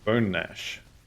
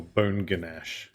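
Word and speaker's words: Bonash: Bone Nash or Bone Ganache if you want to say it wrong.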